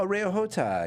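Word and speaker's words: Areo Hotah: I really don't know how to pronounce his name from the show. It's let me see it. Areo Ahota. Oh, Areo Hota.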